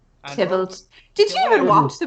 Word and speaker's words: Tybalt: There are obstacles on the way, like Juliet's cousin, Talbot. Tybalt.